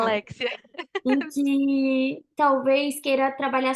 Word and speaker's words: Aléxia: É Alexia, né, que se pronuncia, só para não É, pronunciar errado. Alexia.